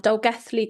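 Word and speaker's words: Dolgellau: And one of the cases you mentioned in the webinar, Dolgethley Golf Club. You pronounced it right.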